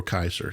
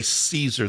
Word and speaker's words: Caesar: Nero Caesar, or Nero Kaiser. Yeah, there's no soft. We say Caesar. There's no soft C in either Hebrew or Greek, or Latin.